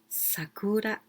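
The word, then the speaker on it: 桜: is woman lady and all together we pronounce sakura sakura and here there's other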